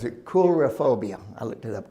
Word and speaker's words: coulrophobia: Coulrophobia. I looked it up. Cool is in K-O-L.